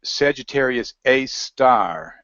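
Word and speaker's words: Sagittarius A*: And all they have to do is go and search for Sagittarius A star, and it's spelled A asterisk. It's called A star.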